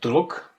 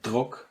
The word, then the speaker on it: Druck: And so you have, for example, der Druck, the pressure, der Druck, you see a very clear D in the beginning.